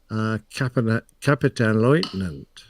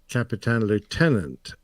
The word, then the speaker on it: Kapitänleutnant: the German military that I believe is correctly pronounced Kapitänleutnant, and I say Kapitän Lieutenant, and I know that my German friends, because